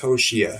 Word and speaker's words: Hoshea: 6 letters, 3 syllables, pronounced Hoshea.